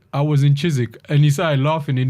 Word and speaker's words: Chiswick: Because there's somebody I told him, I said, I was in Chiswick, and he started laughing, and he goes, yeah,